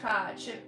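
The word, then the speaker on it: Kotch: Mitch Cotch. It rhymes with watch.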